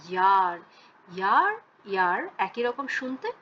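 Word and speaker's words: Jahr: এটা কিন্তু জার কখনোই না, ইয়ার।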